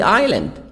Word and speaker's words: island: t is grown in cooler parts of the island is silent the island and rice and rice is